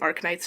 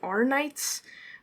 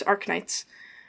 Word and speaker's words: Arknights: the game name that I am pronouncing Ark Knights right I was worried that it might be arits um but no it's AR Knights um sometimes they make